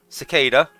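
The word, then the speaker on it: Secada: But that's how you pronounce it. Cicada, con. I was like, oh, that's easy. I could do that.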